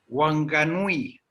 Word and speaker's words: Whanganui: Es un nombre impronunciable, que ya te digo cómo se llama. Wanganui.